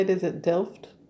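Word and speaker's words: Delft: is that how you say it is it DED d e l f t those little hand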